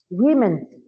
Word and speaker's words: women: Women. Women for pronunciation or plural. When it is plural, you say women.